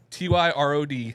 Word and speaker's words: Tyrod: the car Tyrod Taylor baby that's his name Ty r o d tyod Rod tell me I'm wrong is it